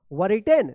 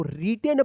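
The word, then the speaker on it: written: I double T ई एन क्या पढ़ेंगे इसको वर रिटेन नहीं इसको रिटेन पढ़ा जाता है डब्ल्यू जो है ना यहां पे साइलेंट रहता है क्या है साइलेंट वर्ड है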